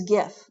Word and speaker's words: GIF: me like it is gif don't tell me it's no gif i don't give gifts to people at christmas no it's graphic image file that's a hard g it's not that j nonsense okay you know don't